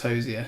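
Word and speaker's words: Hozier: I think I watched an interview and he did confirm it was Hosier. It's Hosier.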